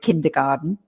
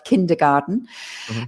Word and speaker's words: kindergarten: and we call it kindergarten we don't actually pronounce it garten we say garden so we make it sound english as well kindergarten um or there are